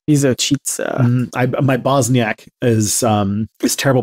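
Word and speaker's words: Visočica: It's called Vizočica. Vizočica. My Bosniak is terrible pronunciation.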